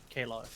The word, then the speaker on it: Chaos: Kalos. Cows! Cows. It's spelled as Chaos.